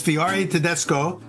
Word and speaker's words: Fiore Tedesco: well as being a great chef, and it's Fiore Tedesco.